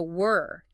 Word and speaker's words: were: So were. Say it. Were. It has kind of a softer sound almost like were and then where.